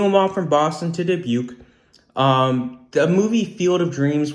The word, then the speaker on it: Dubuque: So that's where he gets Boston to Dubuque. You might be thinking, Boston, that's something. Dubuque, what the heck is that supposed to rhyme with Nuke and Duke? Yeah, kind of.